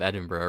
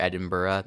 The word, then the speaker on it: Edinburgh: I like how you actually got the pronunciation of Edinburgh right. Yeah. Oh, is that how you pronounce it? Yes. Yeah, it's Edinburgh. It's you could do Edinburgh or Edinburgh. You just can't do Edinburgh.